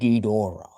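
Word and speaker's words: Ghidorah: But there is our Michelangelo as King Gera or King Gedora or King Gera or Gedra or however you pronounce it, but usually it's King Gedora as also said in the video games.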